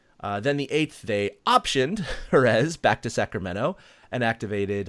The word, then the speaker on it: Jerez: Do you pronounce his name Jerez or Jerez? I don't even know, actually. It's Jerez.